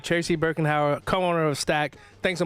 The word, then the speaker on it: Birkenhauer: Birkenhauer. Birkenhauer, yeah.